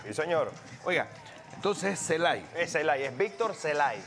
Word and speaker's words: Celay: 291 Víctor celay que es el refuerzo se pronuncia Víctor celay celay celay celay Víctor celay 284 que es